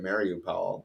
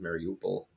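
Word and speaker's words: Mariupol: or mario paul uh the americans seem to pronounce it mario powell but everybody else says mary opal that place yeah um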